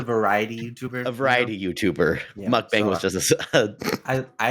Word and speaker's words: mukbang: a a mukbang star is that how you pronounce it yeah mukbang mukbang would you say that you were a primarily